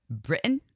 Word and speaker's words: Britton: Britton. Did I say it right? Like Britain, like Great Britain, who I've actually known of for many years.